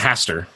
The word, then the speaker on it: Hastur: Am I pronouncing that correctly? Eye of Hastur? I believe it's Hastur.